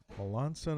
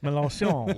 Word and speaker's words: Melancon: to say it, and kind of told him the background, like it's French, and so then he started kind of overdoing it, like Melancon.